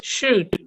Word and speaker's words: should: So we are going I added the L because the L is silent.